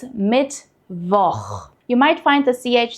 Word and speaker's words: Mittwoch: Pay attention here that it's not Mittwoch. We don't pronounce CH as a K here. It's Mittwoch.